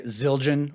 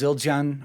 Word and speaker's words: Zildjian: competing with Saban uh Americans say zilan or Sabian but it's zilan or Sabian uh because they're Armenian and I grew up